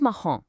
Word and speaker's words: marrom: Then we have marrom, or brown. The ã there matches the on in the French word nom.